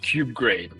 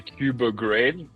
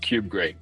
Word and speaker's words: Kubegrade: Well, it's pronounced cube grade. A lot of people see the logo and they say cub grade like I guess cubernatti but there's no r so it's just cube grade.